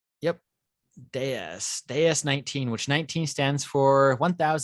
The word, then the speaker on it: DS: Well, the DS was otherworldly, and the name DS, when you pronounce it that way, it's a pun on the French word for goddess.